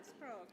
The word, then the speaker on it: Sprague: Yeah, Sprague. Like the city Prague, but with an S in front of it.